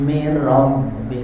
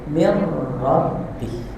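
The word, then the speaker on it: مِنْ رَبِّهِ: Waakululladzina kafaru laula unjila alaihi ayatumbi ya benar kurang dikit-dikit ya mirbih tasidnya dua tuh ya bukan mirbih tapi mirrabih ya silakan Silakan lanjutkan.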